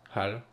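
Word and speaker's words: hull: La coque, hein, c'est en anglais, c'est HAL. Ça se prononce comme un hall d'entrée. Malgré le U, ça, ça me fait toujours un peu halluciner en anglais.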